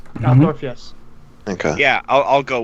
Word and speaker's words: Altdorf: Did I pronounce it right? Altdorf, yes.